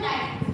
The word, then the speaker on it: knight: And in the word knight k n i g h is written but the letter k is not pronounced.